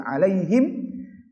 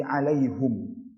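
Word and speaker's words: عليهم: Jadi ghairil maghdubi alaihim, ini ada dua cara baca. Yang pertama ghairil maghdubi alaihim, cara yang kedua ghairil maghdubi alaihum.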